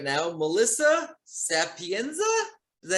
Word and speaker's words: Sapienza: I have on Zoom with me right now Melissa Sapienza. Is that how you pronounce it?